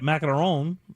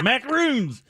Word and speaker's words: macaron: know that um that macaron is that how you say it that is how you say it if you're french yeah yeah but good in america it's macaroons but either way those